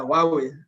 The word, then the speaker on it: Huawei: digital energy in huawei sometimes i'm afraid to pronounce the name of your organization samuel huawei right right does that sound chinese or english is that chinese or english of course is chinese why are we why we that's actually the right pronunciation yeah why we what